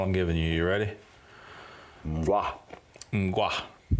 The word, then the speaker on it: Mgła: Mgwa. Mgwa. You sure of that? I'm pretty sure. That's how I've seen it pronounced. And heard it pronounced. Okay. Here we go. Mgwa.